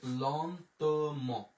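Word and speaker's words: longtemps: তাহলে লন তো ম, ল তো ম, লন্তম। এরপরে আমরা বরযাত্রী আ ই এর উচ্চারণ একার, এম ও এন এর উচ্চারণ হচ্ছে ম।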